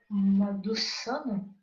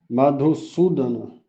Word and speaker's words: Madhusudana: Arjuna disse: Ó, como pronuncia, Prabhu? Madhusana? Madhusudana.